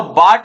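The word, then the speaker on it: baht: Thailand की जो मुद्रा है उसको कहते हैं हम थाई या तो बाट बोल दीजिए क्योंकि इंग्लिश प्रोनाउंसिएशन में ये सब चल जाता है या फिर थाई बहत बोलते हैं उसको तो थाईलैंड की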